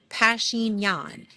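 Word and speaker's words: Pashinyan: Pashin Yan and Orb Orb Azerbajani, President uh I am AliV.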